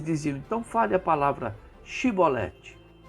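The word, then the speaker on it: שיבולת: Se ele não fosse capaz de pronunciar a palavra e ele pronunciasse Sibolete em vez de Shibolete, ficava claro que estava mentindo.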